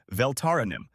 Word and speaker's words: Taranim: You are pronouncing it wrong. It is Taranim, not Velarinum.